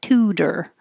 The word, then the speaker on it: tutor: that's why this t in the middle can change to a d because two is stressed and tor is not so we change it to tudor tudor my tutor gave